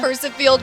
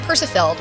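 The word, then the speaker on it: Percifield: Pursive field. P E R C I F I E L D field like a field and then uh I what would they get get confused with?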